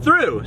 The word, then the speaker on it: Thoreau: that we're passing through Thoreau New Mexico which the locals pronounced through so we're really passing